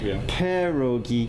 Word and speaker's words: Perogy: There's a million ways to say that first syllable of Perogy, perogi. It's almost a P-U-H.